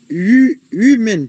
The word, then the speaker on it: human: Donc, prononcez-le en deux temps. You. You. Man. Man. You. Ok, donc le H est mieux ici. Le H. Non, il n'est pas... Il se prononce comme yo. You. You. Comme huge. You. Comme yes.